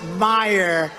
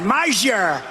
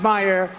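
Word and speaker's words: Meijer: of the 10 impeachers, a guy who spells his name M-E-I-J-E-R, but they pronounce it Meyer. The hell kind of a spelling is that? Meyer. Meisher. It's Meisher, but it's actually pronounced Meyer.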